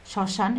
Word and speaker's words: শ্মশান: শ্মশান, এখানে মফলা আছে, মফলার উচ্চারণ হয়নি।